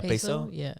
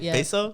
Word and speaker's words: Peso: his name PES yeah peso that's how you say it peso I think that's how you say it cuz it's p y so pay and then s o so so so I think